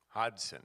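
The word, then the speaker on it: Hodgson: men's basketball coach Brian Hodson Hudson with a silent G yeah because he you look at it and you want to say the other that's right and you'll be corrected really fast actually I think not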